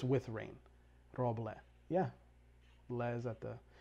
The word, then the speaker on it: Roble: All right, so if people want to pronounce his name correctly, it's either Rob or. Roble. There you go, there's a Somali pronunciation.